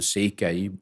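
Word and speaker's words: Székely: special part of the Hungarians which are the sea as we say in in Hungarian uh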